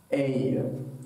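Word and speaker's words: aie: Bei Verb avoir, bei tu form, sagt man aye. Also es ist A-I-E und es ist wie ein ausgesprochen.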